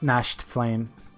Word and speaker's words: Nachtflame: to me Matt nice gnashed flame yeah I just called it's German and the tea's silent am i saying that